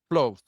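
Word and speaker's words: Plouffe: is very important is David Clo I think is the way I would pronounce the last name P L O U FF and he was the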